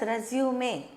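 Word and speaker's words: résumé: This is a French word with an accent, so we pronounce it as resume.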